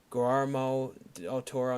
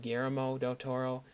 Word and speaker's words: Guillermo del Toro: correct your pronunciation like you call him gramo del Toro instead of Guillermo del Toro now I always screw